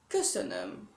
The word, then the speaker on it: köszönöm: Alors, ça s'écrit, ça se dit, pardon, köszönöm. Ok. Köszönöm, avec tous les petits O de points qui font le E.